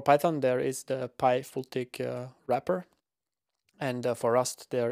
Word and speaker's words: FLTK: spoke about plotting so fltk or pronounced fultic is a very minimalistic